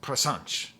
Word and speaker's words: presente: So presente is pronounced, presente is pronounced presente here. And that's that ch sound.